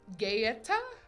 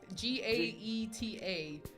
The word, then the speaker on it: Gaeta: The word pizza was first documented in AD 997 in a place I don't know how to pronounce. Gaeta? Gaeta? G-A-E-T-A.